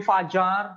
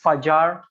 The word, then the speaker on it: Fajar: So you can call me Fajar. So in my country, the J is pronounced as J like in English, so it's Fajar for short.